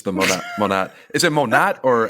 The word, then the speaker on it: Monat: It's the Monat. Is it Monat or how do you pronounce it? Think of it this way: modern, Oh yeah, modern nature, right?